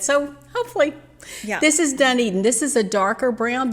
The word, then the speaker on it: Dunedin: Then we'll go with the dark brown, which is Dunedin. Oh, you pronounced it right.